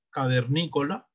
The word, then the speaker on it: cavernícola: Cavernícola, tiene ¿cuántas sílabas? Cinco sílabas y es palabra esdrújula.